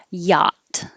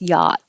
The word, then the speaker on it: yacht: the first word is yacht the ch is nothing like it looks like or something but it's not just yacht world world so take